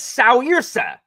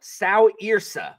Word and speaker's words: Saoirse: That is Saoirse. Sao, S-A-O, Saoirse, or Saoirse if the E is silent.